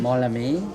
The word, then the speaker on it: Mawlamyine: Mawlamyine.